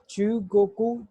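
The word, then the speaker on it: 中国: चुगोकू, चुगोकू, China को चुगोकू बोलते हैं जापानीज में, और इसको हम हिरागाना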